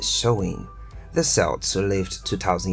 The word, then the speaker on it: Samhain: back to the ancient Celtic Festival of samim pronounced showing the Celts who lived 2000 years ago mostly